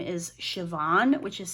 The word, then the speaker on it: Siobhan: her middle name is Siobhan, which is spelt the same way. But I believe that the owner of this shop pronounces her name with the B, so Saban.